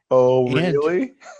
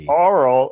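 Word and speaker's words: Auril: Oh, really? Oh, real. So oral is not oral. Nope. It's real. Oh, real. Okay, we're all saying it wrong, so that's why you want to have a pronunciation guide.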